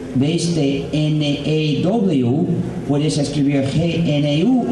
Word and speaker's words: GNU: Si lo pronuncias new, si dices the new system, ya te equivocas, porque vamos desarrollándolo desde hace 28 años y vamos usándolo desde hace 20 años. Ya no es nuevo, no es the new system, pero sigue siendo the GNU system. Entonces, por favor, pronúncialo GNU en inglés.